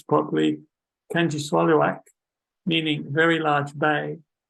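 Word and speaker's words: Kangiqsualujjuaq: One of the young people I taught there said the only way a southerner could get close to how the name should be pronounced is to say, "Can you swallow a truck?"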